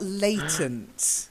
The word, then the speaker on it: latent: Then you've got latent, latent.